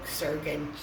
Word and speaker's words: surgeon: No, Surgeon. Surgeon. No, Sir. Surg. Soft G. Oh, Surg. Surg. Soft. Surgy. Surgy. Surgeon. Surgeon. Yeah. Okay. G is soft.